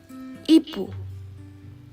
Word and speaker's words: ipu: E is pronounced like E in sea. Ipu. Ipu.